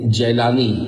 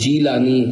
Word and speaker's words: جیلانی: آپ تشریف لائے تھے۔ اس جگہ کو وہاں کے لوگ جیلانی یعنی جیم کے زبر کے ساتھ بولتے ہیں، اصل تلفظ جیلانی جیم کے زیر کے ساتھ ہے۔ یہاں غوث پاک کا بھی